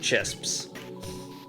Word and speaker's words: Chisps: not chips uh poed chisps heals 13 Health regular old poed chips I call them that uh it's spelled CHS so it's chisps you never notice I